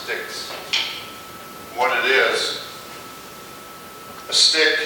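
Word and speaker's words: stichs: It's spelled that way, but it's pronounced sticks.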